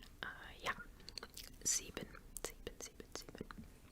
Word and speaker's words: sieben: One thing is, I feel like in English, if you had an I-E in a word, it would be pronounced kind of like I, but in German it's pronounced like E because the letter I is pronounced E.